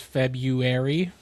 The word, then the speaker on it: February: I try to throw the R in there and it does feel awkward.